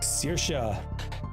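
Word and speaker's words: Saoirse: Uh, next up we have dot dot dot SA. And yes, that is how you pronounce that. I actually freaking looked it up because I had to know how you pronounce this name. So, S A O I R S E.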